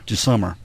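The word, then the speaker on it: Gmoser: was Mike G summer is that's how it's pronounced g s o m e r okay jummer he said in short the prosecution has an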